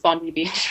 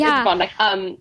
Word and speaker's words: Bondi: Everybody thinks it's Bondi Beach. Oh, okay. It's Bondi.